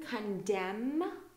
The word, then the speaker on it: condemn: signal uh and then we go to n condemn so anytime you see M and then n uh usually we don't pronounce the M okay so condemn column autumn